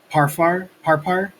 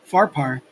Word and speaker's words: Pharpar: Are not the Abana and the Parfar, I keep saying it wrong, Pharpar, the river of Damascus, better than all the waters of Israel?